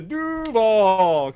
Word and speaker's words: Duuuuvvvvaaaal: Everyone, it's 2 syllables, couple D's, a hell of a lot of U's, and then dash VAAAL, but lots of V's and stuff like that.